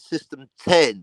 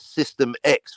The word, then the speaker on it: System X: for over a decade system 10 but they spelled it with an X so everyone's been mispronouncing it almost everyone as system X for over a decade